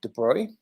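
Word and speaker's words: de Broglie: of symmetry and then uh lee de bruy came along so this is how you say this word de bruy came along and said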